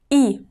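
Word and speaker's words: И: The letter E is pronounced like I in the word internet. E, E, E.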